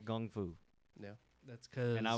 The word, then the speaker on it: kung fu: They pointed out in that film that it is, in America, we say kung fu, but in China, it's actually kung fu, like with a G, like Gung KG.